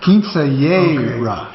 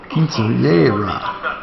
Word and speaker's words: Quinceañera: How do you pronounce Quinceanera? Quince, no. Quincetera? Quinceañera. Quincetera. Quinceañera.